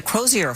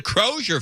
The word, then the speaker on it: Crosier: The Crosier fire. Yeah, they're mispronouncing it. It's the Croser fire.